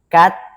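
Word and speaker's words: καθαιροῦντες: I'm going to go ahead and say, utter the pronunciation of the Koine Greek word. Katahiruntes.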